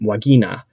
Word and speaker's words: vagina: that the word um vagina or how you pronounce it classically in Latin would be um wagina actually is um comes